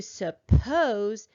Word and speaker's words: suppose: a two-syllable verb the accent mark is going to go on the second syllable to suppose is like thinking i